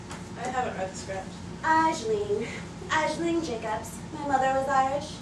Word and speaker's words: Aisling: Actually, it's Aisling. I prefer the modern pronunciation. Aisling.